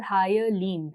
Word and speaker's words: hyaline: it melanin and hyaline I'm going to call it a higher lean that is how I'm going to change